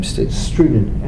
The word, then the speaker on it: Strunin: How do you say his last name? Strunin, S-T-R-U-N-I-N.